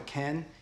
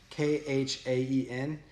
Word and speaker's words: khaen: There's a instrument called a khen, Khaen. I think you just say like can, but my pronunciation is terrible.